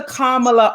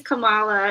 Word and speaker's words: Kamala: Because there's the African version of the name, which I think is Kamala, and then there's the Indian version of the name, which is Kamala.